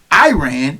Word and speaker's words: Iran: Yours Truly included have called the country Iran instead of Iran which is a proper pronunciation Adams replied that he